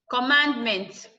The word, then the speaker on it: commandment: Commandment. Command. Mand is stressed. Adding meant to it does not change it. The man will still, the way you stress your base word, will maintain it.